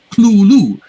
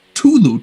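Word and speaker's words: Cthulhu: for somebody else he he spells it out as c-l-o-o-l-o-o clue um and another story he surrenders as tulu t-u-l-u um so these are all slightly varying pronunciations but it gets back to the point that uh that uh you know it's not really pronounced the way it looks on uh on the page so but you know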